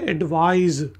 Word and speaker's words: advise: और इससे next word है एडवाइज, ADVISE एडवाइज। इसमें जेड की आवाज़ आती है जबकि एडवाइस में एस की आवाज़ आएगी।